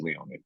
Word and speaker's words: Leone: name is John Carlo and last name is Leon so it's actually just pronounced John like John Carlo is that right